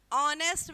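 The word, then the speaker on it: honest: था ही इज ऑनेस्ट ऑनेस्ट में H silent है और यहां ववलू आ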